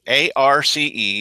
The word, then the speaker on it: Arce: This is Eve Arce, A-R-C-E. Yes, I know some people say it wrong. It's Eve Arce, and she is the treasurer.